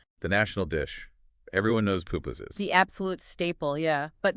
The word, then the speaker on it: pupusas: There's that great story in the source, really relatable, about ordering pupusas. Yes. Okay, so they're at a market in San Salvador trying to order pupusas, which are, the thick corn or rice flour